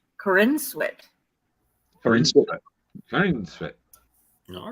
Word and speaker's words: Corenswet: name um so they could know this it's Corinne sweat for instance all right crazy really pronounced three well friends which unless it was